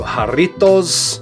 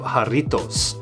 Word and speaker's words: Jarritos: and take notice of the correct pronunciation of Jarritos. Every time you hear a content creator talking about these, you are just waiting, listening patiently for the rolling of that R.